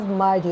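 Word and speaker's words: mighty: হ্যাঁ, nothing is অ্যাজ মাইটি অ্যাজ গড। এখানে মাইটি, যারা আমেরিকা, তারা আমেরিকানরা কী করে, ওরা টিকে করে কিন্তু ডি এর মতো উচ্চারণ করে।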